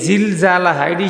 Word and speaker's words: زلزالها: জিলজালাহা, জায়ের উচ্চারণ শিখাইলাম। জাটা শক্ত হবে না, একেবারে নরম হবে না, মাঝখান দিয়ে। জিলজালাহা।